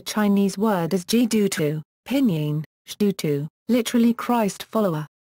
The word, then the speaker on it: 基督: Pinyin, Shdutu, literally Christ follower. The two characters now pronounced Shdu in Mandarin Chinese, were originally pronounced Kitu in Cantonese as representation of Latin Christo.